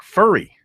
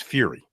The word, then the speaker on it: Furry: Too bad he doesn't pronounce it Fury. Too bad. I told him, I said, man, you ever heard the story about Joe Theismann? You need to have your name pronounced Fury. You do a lot of branding with that. Of Limestone football, but it's pronounced Furry.